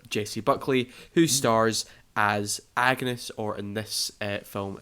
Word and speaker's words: Agnes: Buckley, who stars as Agnes, or in this film it's pronounced Agnes. The G's kind of got like a Y sound to it.